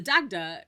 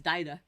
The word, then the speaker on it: Dagda: the doctor so uh the dagda which can also be pronounced daida it sort of depends on what your preference is there and uh while